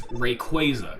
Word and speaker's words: Rayquaza: people pronounce the name Rayquaza. It's Rayquaza because it's supposed to be a quasar, because it's like a space fucking high-flying kind of dude.